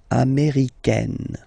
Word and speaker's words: américaine: So when you talk about the nationality, américain, masculine form, un, américain, and then feminine form, américaine, américaine. Okay, it's really open, this A-I, américaine.